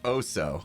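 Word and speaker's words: osu!: good at it actually it's pronounced oh so okay so i was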